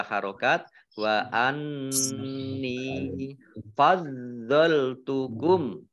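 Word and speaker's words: فضلتكم: Wa anni fadzaltukum. Do-nya dibaca double ada tasdidnya. Fadzaltukum alal alamin.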